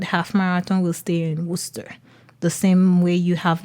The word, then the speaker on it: Worcester: It's spelled WOCSTR. It looks like Worcester, but it's not. It's Worcester.